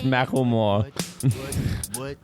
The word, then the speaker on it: Macklemore: It's Macklemore. Oh, well, let's trust that pronunciation because they thought it was cute and decided to put it in a song.